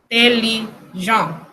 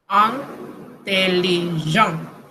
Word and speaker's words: intelligent: IN se pronuncia igual, intelligent, intelligent.